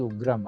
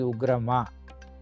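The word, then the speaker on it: उग्रम्: So here we have to put a dash here, then only it becomes ugram. Otherwise it is ugrama.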